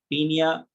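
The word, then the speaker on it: Paeonia: Form में बोलते हैं पीनिया ओ साइलेंट, पीनिया जैपोनिका।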